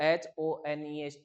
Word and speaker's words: honest: Clear है बात, क्योंकि H कॉन्सोनेंट है, जबकि मैं कहता हूँ बिल्कुल है, क्योंकि वहां पे प्रोनाउंसिएशन O से स्टार्ट होता है, H साइलेंट होता है।